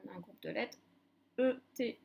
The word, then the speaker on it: ette: On a un groupe de lettres E, T, T, E, se prononce et.